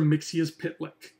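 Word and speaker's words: Mxyzptlk: Mixius Pitlick.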